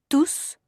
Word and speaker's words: tous: Et le S ne se prononce pas dans quelle phrase Émilie ?